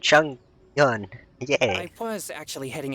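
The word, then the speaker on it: Chongyun: Jing Cho. I said it wrong. And Chung Yun.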